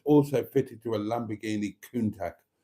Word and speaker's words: Countach: fitted to a Lamborghini Countach. Countach. I gave it a hard C.